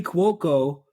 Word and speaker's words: Cuoco: and her daughter Karen who's played by Kelly Coco Coco how do you say this I had to look it up uh hold on I wrote it down yeah so Kelly Cuoco suspects that Sid is back in is behind